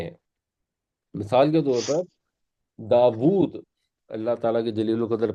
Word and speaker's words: داود: جلیل القدر پیغمبر ہیں، ہم اسے اردو میں داود نہیں کہتے، ہم داؤد کہتے ہیں. ہم چینج کر دیتے ہیں کیونکہ ہمارے لہجے میں داود نہیں بیٹھتا.